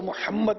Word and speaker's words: محمد: اچھا اب یہ لفظ کا ویسے عربی میں تلفظ تو محمد ہے اور اس میں حمد